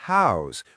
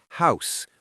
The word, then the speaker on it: house: And notice I said house with a voiced Z sound at the end, not house with the unvoiced S. Now that's because this is the verb form, meaning to give a place for a person or animal to live.